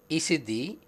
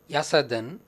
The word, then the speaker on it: Yazidi: I will start with the very name Yazidi. It is pronounced variedly as Isidi, Yasadan, Yazidi.